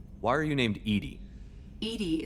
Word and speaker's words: EDI: are you named Edie Edie is the phonetic pronunciation of EDI acronym for enhanced Legends